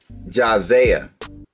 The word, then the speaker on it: Jasiah: But yeah, man, today we checking out Jazaya Crisis. I think I'm saying it right, because it looks like Isaiah, you know what I'm saying, but with a J-A.